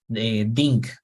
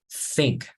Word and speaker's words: think: So for example, this word is not pronounced dink, right? Dink. You need to take out your tongue and then you say like this. Basically, your tongue needs to be visible. Se tiene que ver tu lengua, pronunciarlo. So you say think, right?